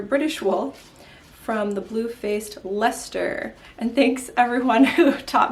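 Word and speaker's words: Leicester: wool from the bluefaced Lester and thanks everyone who taught me how to pronounce the word Lester there's a lot of extra letters in that word and yeah I definitely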